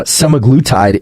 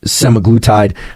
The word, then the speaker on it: semaglutide: I can never pronounce this can't seem to pronounce many things it seems uh semaglutide is the the way I would pronounce it